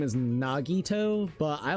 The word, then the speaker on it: Nagito: There was uh it's like Nagato. I everybody like his actual name is Nagito, but I like calling him Nagato to be quite honest.